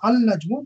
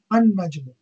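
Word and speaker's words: النجم: It's not pronounced as al-najmu, but it is pronounced as an-najmu.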